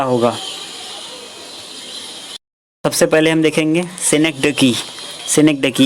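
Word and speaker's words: synecdoche: Repetition, सिनेक्डोकी, लिटोट्स और finally है climax.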